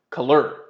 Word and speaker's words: Kelir: easier the tool is called color or pronounced color sounds a little French I think they were